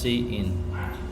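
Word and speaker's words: cin: and uses the insertion operator C in is pronounced C in used for input and uses the extraction operator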